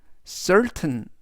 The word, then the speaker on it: certain: 단어에서 t는 우리말로 튼 즉 전체적인 의미는 certain certain certain이라고 발음하시면 되겠습니다 품사는 형용사 뜻은 확실한이라는 뜻이 되겠습니다